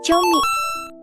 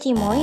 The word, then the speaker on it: Ciomy: keju ayami Assalamualaikum sobat chiaomi itu dibacanya chimoi chomi atau choma ya Nah yang benar itu bacanya chomi bukan cimoi dan juga choma ya